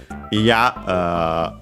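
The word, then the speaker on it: いや: Iya is an adjective. By the way, I didn't mention that toki is accented on the last syllable. Just like, by the way, iya.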